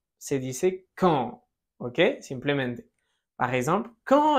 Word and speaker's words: quand: Cuidado, podrás notar que no suena la U de quand, no se dice quand, se dice quand, ¿ok?